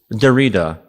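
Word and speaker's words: Derrida: what they were defining Dera D or I mean his French maybe is how he would like for it to be pronounced d e r r i d a and uh the second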